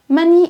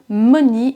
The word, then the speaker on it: money: C'est le cas par exemple de love, money and carrot qui ne se prononce pas love, money et carotte.